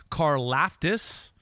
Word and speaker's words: Karlaftis: to number four number four edge rusher george karlaftis from purdue all right you're saying that right